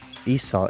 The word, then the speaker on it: Esau: and au okay now I completely forgot how pronounced this guy's name now Esau Esau Esau okay sorry now Esau learned that